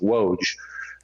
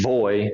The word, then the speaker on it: Woj: sound so and the j makes a y sound so when you see woj a lot of people a lot of americans just think woj uh but it's boy so when you when i phonetically spell something out my name out to people i just write v-o-y so it's it's void